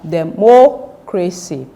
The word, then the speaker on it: democracy: So this word will be pronounced as democracy. Democracy. When you get to this part, written in capital letter, you have to pronounce it louder than the other syllables.